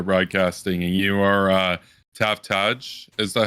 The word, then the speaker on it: Taftaj: do you pronounce it i think they get the the j and the a mix steps they'll say tafja is a common one it's a major